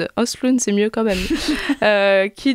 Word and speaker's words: Östlund: Comment ça se prononce ? Östlund, c'est mieux quand même.